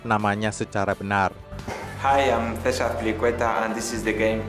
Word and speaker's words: César Azpilicueta: Hi, I'm César Azpilicueta and this is the game Say My Name.